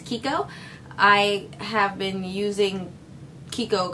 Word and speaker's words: Chicco: It looks like it says Chicco, but the actual correct pronunciation is Chicco.